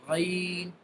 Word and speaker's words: غ: So now the next alphabet is Ghain. Ghain. Ghain will be pronounced by the upper end of our throat.